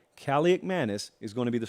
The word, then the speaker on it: Kaliakmanis: Athan Kaliakmanis is my best guess on the pronunciation of the last name right now.